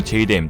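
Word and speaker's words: JDAM: 영어 발음은 보통 제2댐 또는 제2담이라 하지만 중국 입장에서는 그냥 좆댐이죠.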